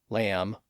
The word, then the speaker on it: lamb: We also have silent B's at the end of some words from old English like dumb, lamb, climb, comb, and womb.